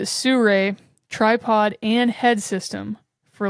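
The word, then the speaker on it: Sirui: It looks like Siriu also, but they pronounce it Suray tripod and head system for like $280.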